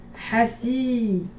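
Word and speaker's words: حاسد: Hasid. Hasid. Hasid. Min sharri hasidin idha hasad. Hasid. Correction. Hasid. 3 syllabes. Ha, syllabe longue. Si, syllabe courte. D, syllabe courte.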